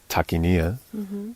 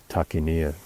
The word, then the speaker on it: Takayna: He he used dot points. It was TAR.KI.NWR Takayna. So that's how I've always pronounced it, but I think that's irrelevant, really.